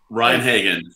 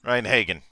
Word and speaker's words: Rein-Hagen: Rein-Hagen. Rein-Hagen.